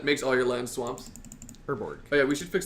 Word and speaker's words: Urborg: Orborg, or however you pronounce that, makes all your lands swamps. Urborg.